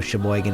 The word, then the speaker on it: Sheboygan: if you don't know Sheboygan it's up hol wide Sheboygan is spelled sh e like she the next word is boy like she boy GN right yes she boy